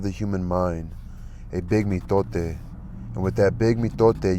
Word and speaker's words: mitote: Let me get my Your whole mind is a fog which the Toltecs called the mitote, pronounced mitote.